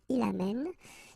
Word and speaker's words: amène: And then it will change, of course, the pronunciation, because you will have this sound open. Amen, okay? Amen, tu amènes, il amène.